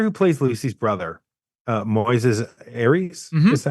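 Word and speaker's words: Moisés Arias: the the actor who plays Lucy's brother uh Moes Aries is that how you pronounce it yeah Moises Aries he um he has been around forever he's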